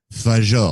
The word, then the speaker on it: Fagot: Like the drink without the Y, but with a silent T at the end.